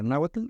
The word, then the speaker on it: náhuatl: Sí, contiene muchos poemas de épica náhuatl o náhuatl según la correcta pronunciación, pero nos vamos a centrar en el